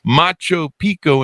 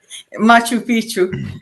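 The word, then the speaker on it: Machu Picchu: sights such at the ruins of Macho Pico and Peru the Mayans in Mexico I mispronounced that didn't I that's why you're laughing Machu Pichu no I I flunk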